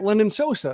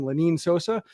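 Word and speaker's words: Lenyn Sosa: to uh look at london sosa who's uh or sorry linnean sosa i i've been pronouncing his name wrong the entire time lanine sosa uh and wanted to get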